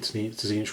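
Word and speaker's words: Tzeentch: It amused me because I've actually been pronouncing Tzinch right. Because it's like stitch, so you do pronounce the T.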